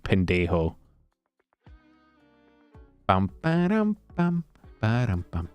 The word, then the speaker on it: pendejo: Pendio is the most fucking Anglicanized white boy pronunciation of pendejo.